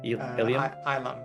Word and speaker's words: Elam: Because the rumor is swirling that Gaydok is even though he's marrying Elam, how do you say it? Elam? Ilam, that's how I'm saying it.